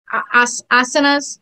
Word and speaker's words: asanas: And when you are giving the poses or the asanas, is that how you say it?